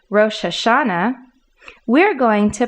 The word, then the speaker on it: Rosh Hashanah: the italics english that the last three letters nah are in bold print that is the accent for this word that means rather than saying rosh hashanah we're going to pronounce